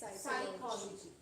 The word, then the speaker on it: psychology: We saysy psychology. So p is silent.